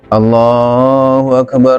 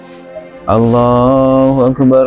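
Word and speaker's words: الله أكبر: Yang pertama dari segi pelafalan yaitu memendekkan lam jalalah pada takbir yang pertama dengan mengatakan Allahu Akbar Allahu Akbar Allahu Akbar Allahu Akbar ini Allahnya yang pertama akan pendek. Yang benar adalah dipanjangkan.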